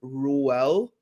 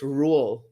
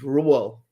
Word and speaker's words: Ruel: Hey, disclaimer though, my nephew's name is Ruel. That's actually not how you pronounce it. It's not. It's Ruel. Like you don't go Ruel. It's just Ruel.